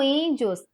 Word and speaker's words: índios: A sílaba tônica aqui é o in.